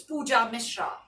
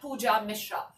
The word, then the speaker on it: Pooja Mishra: band rolling band cloning my name is easy and simple its pooja Mishra like I said not any of those which I said earlier but pooja Mishra so zoom in your